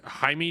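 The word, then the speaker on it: Jahmai: Cabrera and uh I guess I don't know Hae Jones Is that how you'd say it spell j a m AI yeah J it's pronounced Jami Jones Jami Jones okay I was gonna butcher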